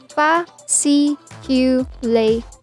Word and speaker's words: fasciculation: Say this simply as fasciculation.